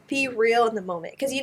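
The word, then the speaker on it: BeReal: I haven't it was be real yeah how do you pronounce it like e b e and then real be real oh okay I'm on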